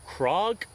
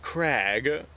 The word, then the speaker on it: Krag: i'm currently in uh my norwegian friend told me that the name is actually pronounced krog and not krag although some people do